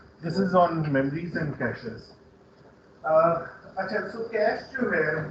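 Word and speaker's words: cache: اور یہ جو کیش میموری ہے، اچھا کچھ لوگ اس کو کیشے بھی کہتے ہیں، تو ویسے اس کی اسپیلنگ اس طرح سے بٹ it's pronounced as کیش. جو کیش ہوتا ہے نا سیٹل والا کیش، اٹس ناٹ کیشے، اٹس کیش memory.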